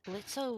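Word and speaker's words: Blitzø: As if Blitzo was in D&D world. Blitz, the O Well, is silent.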